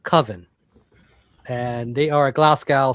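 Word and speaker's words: Cwfen: And damn, this thing hit me like a So it's spelled CWF for those who knows, but it's it's pronounced Coven and they are a Glasgow Scotland band and this is actually their debut album.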